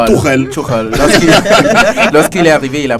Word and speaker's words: Tuchel: Là, vous le prononcez à la française, hein? Tuchel. Tuchel, voilà. En allemand, c'est Tuchel.